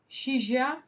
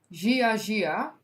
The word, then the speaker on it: Shijia: give you the respect how to pronounce Shija? No, that's not. Why is nothing written? Gia. Yeah, I think so, but like Shia. Okay. And, of course. Okay, so Gia.